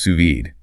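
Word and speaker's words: sous vide: And the high-tech French term suvid, pronounced suvid, it means under vacuum.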